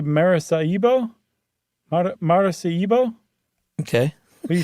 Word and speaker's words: Maracaibo: I'm going to say Maracaibo? Maracaibo? Okay. What do you think? I was going to say Maracaibo, but I don't know if that's a hard C or a soft C.